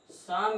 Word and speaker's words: psalm: साथ लिखे जाते हैं तो आपका पहला सेमी वॉवेल साइलेंट हो जाता है। जैसे आपका है PSALM, शाम मीन्स होता है भजन।